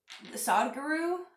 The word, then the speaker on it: Sadhguru: So, Sadhguru, I guess, is how you pronounce his name.